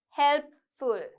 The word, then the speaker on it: helpful: So a lot of people say helpful, right? Helpful නෙමෙයි. Helpful, helpful, helpful. Okay, so I want you to say the p and the f properly, right?